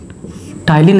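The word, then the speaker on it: ptyalin: टाइलिन enzyme बहुत important है, यहाँ पर पी साइलेंट है।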